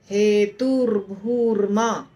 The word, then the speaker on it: हेतुर्भूर्मा: और भू विसर्ग है, तो इसीलिए वो विसर्ग के जगह र बन जाता है, आधा र। हेतुर्भूर्मा, हेतुर्भूर्मा, हेतुर्भूर्मा, ऐसा। कर्म फल हेतुर्भूर्मा, दोनों जगह र लगेगा बीच में, आपको ध्यान देना है इसका उच्चारण करते समय।